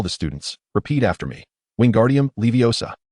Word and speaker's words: Wingardium Leviosa: Repeat after me, "Wingardium leviosa." Pay close attention to elongate the pronunciation of O slightly.